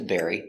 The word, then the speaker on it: bury: He wants to bury his bone. Pronunciation, bury. The dog wants to bury his bone. B, air. bear, bear. E, berry, berry, berry. Like strawberry, berry, burying.